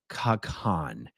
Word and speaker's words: Kha-Khan: Kha-Khan. And it's spelled Kha-Khan.